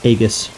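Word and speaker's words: Aegis: Shield is incredibly good or IUS however you want to say it I always pronounced it agus that's just me though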